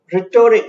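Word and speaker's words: rhetoric: Next word is रिटोरिक. इसके pronunciation पे ध्यान दीजिएगा.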